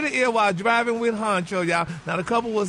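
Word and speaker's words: Hunxho: excited honey kha is back with her man honcho that's how you say his name baby they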